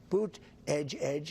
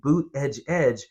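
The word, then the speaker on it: Buttigieg: told Donald Trump hey if you can't pronounce his name just think of saying boot Edge Edge really fast Donald Trump probably heard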